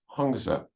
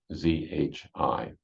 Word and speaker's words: Hongzhi: And that was Hongzhe. I'm not absolutely sure about the pronunciation. I'm doing my best with it. Hongzhi.